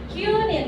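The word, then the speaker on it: 九人: Kunin. U ada garis atas itu berarti U-nya ada dua. Dua. Paham? Paham. Qunin. Jadi bacanya akan lebih panjang.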